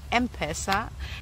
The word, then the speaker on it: M-Pesa: Thanks for clarifying that it is pronounced M-Pesa.